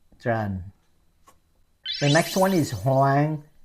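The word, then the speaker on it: Hoàng: the next one is hang h o a n g so you say Mr hang hang hang so you're getting close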